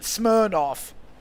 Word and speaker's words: Smirnoff: Smirnoff. I don't know. Like I in in my head I know that it's smiroff, but every time I read it I'm like smoff.